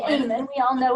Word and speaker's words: Aman: I didn't even know how to say the last name. Right, it's AMAN.